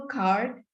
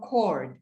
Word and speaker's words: cord: I caught was a spinal card, which should be spinal cord, C-O-R-D.